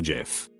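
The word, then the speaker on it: GIF: went up and said it's pronounced jif ajif jod himself could come down and tell me that i wouldn't believe it it's jif forever bye whoever put the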